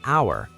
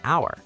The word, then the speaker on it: hour: So, for example, an hour. The word hour starts with the letter H, but the H is silent, so it actually starts with a vowel sound, ow, so we say an hour.